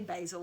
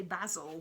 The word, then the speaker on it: Basil: it's really tricky because we don't say basil we say basil basil yeah so every time they said basil something I was like basil basil you're saying it wrong basil anyway this guy's